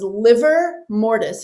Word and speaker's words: livor mortis: But one of them was livor mortis, and it's spelled LIVOR, and it means blood stagnation.